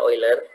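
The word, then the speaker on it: Euler: lewat couleur ya atau ada yang menyebut oil ya tulisannya eggler Tapi bacanya oil ya tahun 1700-an ya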